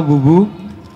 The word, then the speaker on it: Boe: Sebenarnya BOE, Pak. Hah? BOE. Iya. Boe. Bacanya bubu, ya boleh.